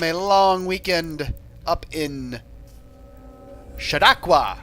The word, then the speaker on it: Chautauqua: long weekend up in chautauqua i think i was saying it wrong before Chautauqua Chautauqua New York went